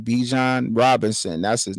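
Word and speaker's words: Bijan: couple touchdowns B be uh Robinson I can't pronounce his first name bejan Robinson that's his name bejan Robinson I'm I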